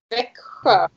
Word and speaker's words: Växjö: But I still have to learn how to pronounce the city. Is it one more time? Växjö.